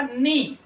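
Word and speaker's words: knee: आगे देखिए हम, तो नेक्स्ट वर्ड है वो क्या है, के एन डबल ई, इसका प्रोनाउंसेशन होगा नी। यहां पर जो के है वो कैसा है, साइलेंट है, ठीक है, तो यहां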